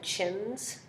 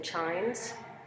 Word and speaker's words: chimes: a closed syllable exception so I'm saying I'm rather than Chin's I'm saying chimes and chimed would be